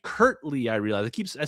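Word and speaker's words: Kirtley: Kirkley. It's actually Kurtley.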